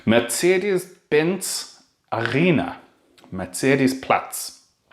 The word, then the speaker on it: Mercedes: and we walked through Mercedes sorry let's say it properly because otherwise there's gonna be some Germans complaining Mitsy ideas bins Alena met series